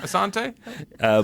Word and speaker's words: Assante: Assante.